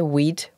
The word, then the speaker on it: Weate: do you say wheat? Wheat? Yes, wheat as in the cereal crop.